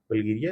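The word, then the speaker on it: Bulgaria: फिर यहाँ पे एक है बुर्गास और Saint Ivan island of द बल्जीरिया, बल्गेरिया या बल्जीरिया कह लीजिए, दोनों आपके प्रोनाउंसिएशन पे डिपेंड करता है।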